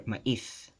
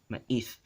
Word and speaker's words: maíz: Actually, maíz, the way it's pronounced maíz is in local languages. But in Philippine Spanish, it's maíz, right? Maíz. And in standard Spanish, maíz, maíz, right? Maíz. It's like glided together. There's no glottal stop.